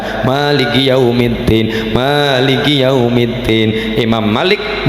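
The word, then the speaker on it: ملك يوم الدين: Dalam bacaan Imam Malik , "mim" dalam Al-Fatihah diucapkan pendek. Maliki yawmiddin. Padahal biasanya kita memperpanjangnya selama dua ketukan. Maliki yawmiddin.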